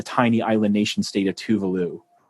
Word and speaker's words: Tuvalu: And then everybody at the end decides to launch a nuclear war on the tiny island nation state of Tuvalu, or Tuvalu, that's how you say it.